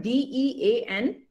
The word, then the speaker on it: dean: Hamiza, okay, first, okay, you see the word D-E-A-N. Okay, D-E-A-N, just change it to B, the pronunciation is something like B-E-A-N, B for boy, B-E-A-N, bean. Okay, so this is dean.